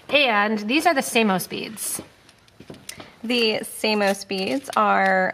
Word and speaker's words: Samos: same as the Amos I know you want to say they're the same as the Amos they're not the same as the Amos they're Samos Samos s m o so it's spelled like Amos but with an S okay okay um so